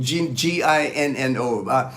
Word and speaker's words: Gino: know it's like G as long as you call me Gino you know I'm cool